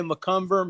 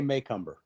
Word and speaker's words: Macomber: I get that correct depends on what part of the country in Doug somebody say McCumber maycumber so how do you say I say maycumber mumber there you go